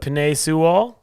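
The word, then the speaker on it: Penei Sewell: one's the bengals yes i got can't even pronounce his name but penae sewall that's perfect that's what we just said boom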